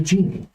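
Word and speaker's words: djinni: No, she's a genie. Are you a djinn? I'm a genie. It's spelled D-J-I-N-N-I.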